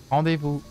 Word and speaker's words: rendezvous: In the English way or the French way? Do you know how to speak authentic? What is the French way? Rendezvous. Rendezvous? It's like rendezvous, but with the right R.